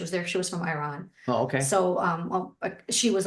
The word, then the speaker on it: Iran: She was from Iran. Oh, okay. So she was almost like my godmother. So I always say Iran. You say it's Iran? Yeah, Iran. So I'm pronouncing it wrong.